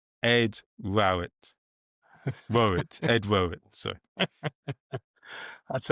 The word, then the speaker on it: Rowett: 90% of people assume it's Rowlet, but in fact it's Rowit.